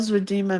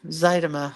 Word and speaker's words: Zydema: Did Michelle Zwadima make it? No, Zydema. I say it wrong every time.